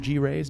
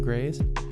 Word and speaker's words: Graiz: You pronounce it G Raiz, not Grays.